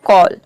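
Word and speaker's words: call: यदि किसी वर्ड में ए के बाद डबल एल हो तो वहां पे ए को आपको ओ प्रोनाउंस करना है, ठीक है।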